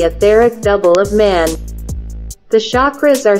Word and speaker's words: chakra: The word comes from the Sanskrit chakra, meaning wheel, circle, and sometimes also referring to the wheel of life. The pronunciation of this word can be approximated in English by chakra, with ch as in chart.